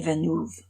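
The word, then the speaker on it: Villeneuve: science fiction but I did learn how to pronounce the director's name Denny venu Denny venu if anybody asked you to say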